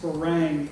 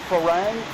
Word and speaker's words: ฝรั่ง: Farang is a Thai word actually, and it's not pronounced Farang in Thai. It's pronounced Farang.